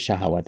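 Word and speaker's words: شهوة: Beda nam sama seperti syahwat ini ya. Ya, syahwat. Syahwat yang benar adalah pakai fathah ya.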